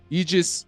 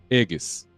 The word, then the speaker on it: Aegis: It wasn't Aegis or anything like that. It was Aegis.